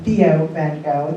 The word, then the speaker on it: Theo van Gogh: And I'm going to use, again, the American pronunciation. His brother being Theo van Gogh.